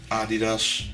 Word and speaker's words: Adidas: It's Adidas, that's how you say it in Dutch.